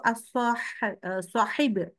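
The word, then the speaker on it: صاحب: nah kita ada tuh dalam bahasa Arab itu as shahib nah pakai ha sebenarnya jadi hati-hati ya Jadi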